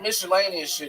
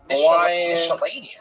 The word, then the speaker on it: miscellaneous: Like Miscellaneian. Yeah. Yeah. And star miscellaneian. Miscellaneous. I'm saying that right. Right now you are. Yeah. Yeah. I'm saying it right. Look at that. You fixed it. You said miscellaneian twice. Miscellaneous. Yep.